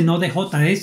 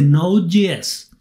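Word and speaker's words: Node.js: se llama node GS y la J se pronuncia GS la gente dice así la gente no dice no de js dice no Yes porque sobre no Yes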